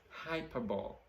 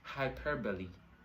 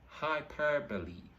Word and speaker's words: hyperbole: we're growing we'll tell you the word is hyperbole but that's not it the word is pronounced as hyperbole hyperbole okay that's a figure of speech that